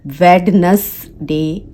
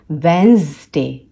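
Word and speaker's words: Wednesday: अभी से सुधार लें, क्योंकि इसमें जो डी है वो साइलेंट होता है, ये होता है वेंसडे, वेंसडे।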